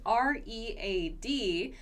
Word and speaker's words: read: The spelling is R-E-A-D, but the pronunciation is read. Have you ever read? So spelling, no change, but the pronunciation does change.